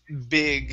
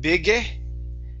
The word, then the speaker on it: big: Next is big instead of bigge. Okay, take off that extra vowel sound.